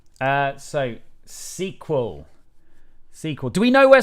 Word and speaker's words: SQL: bart fast is from guy in the online open day at bath pronounces sql well he's wrong he's probably a windows user that's like the level of wrongness um anyway right uh so sequel sequel do we know